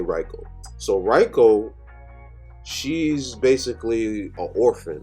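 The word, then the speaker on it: Riko: the anime and sometimes I just forget their pronunciation but let's move on so Rico let me just say REO so Reiko she's basically a orphan right and how it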